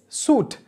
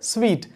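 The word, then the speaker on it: suite: Next word Divya mispronounce pannadhu vandu, it's suit. So, adha suit nu namba sollakudadhu, idanude right pronunciation vandu sweet.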